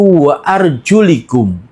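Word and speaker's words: وَأَرْجُلِكُمْ: Sedangkan Imam Ibnu Katsir, Abu Amr, dan Hamzah membacanya dengan jer, yaitu wa arjulikum, dengan di kasroh lamnya.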